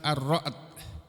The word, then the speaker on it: Ar-Ra'd: Sebagaimana juga yang ada di surat ke-13 yaitu surah Ar-Ra'd. Ini surat yang ke-13 ini namanya surah Ar-Ra'd. Arra'du tulisannya. Membacanya arra'd. Arra'd itu artinya halilintar ya.